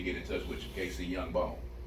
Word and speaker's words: KC YoungBone: KC YoungBone. It's the letter K, the letter C, Young, just like it sounds, how it's spelled, and Bone, same way, on everything.